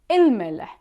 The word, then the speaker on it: الملح: The salt, الملح. Notice here that we are pronouncing il. We are pronouncing e and a lam and the mim one time. الملح.